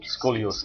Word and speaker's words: scoliosis: kid you were also diagnosed with something called skoliosis am I pronouncing it right scoliosis scoliosis scoliosis you came in without any connection